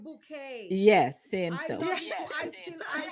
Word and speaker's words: Bucket: the English movie with Miss bucket Miss bouet and she pronounced her name bouet yes same so still